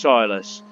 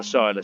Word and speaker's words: Silas: nicked the name Silas I know it's spelt differently but it's pronounced Silas you are not a soilless sir anyway we're going